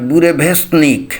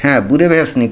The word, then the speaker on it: Burevestnik: করছে এবং এই মিজাইলটার নাম হল বুরে ভেস বুরে ভেসনিক বুরে ভেসনিক এরকম উচ্চারণ করতে হবে আমি জানিনা এরকম পিকুলিয়ার